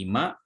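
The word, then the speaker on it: 今: Jadi ini dibacanya ini Ima.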